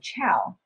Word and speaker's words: Chao: So Chao, actually pronunciation, just like the Italian greeting word, Chao.